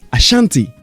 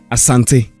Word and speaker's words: Asante: eurocentric point of view foreigners who could not pronounce the name correctly said Ashanti but the actual pronunciation is Asante when Dr CH came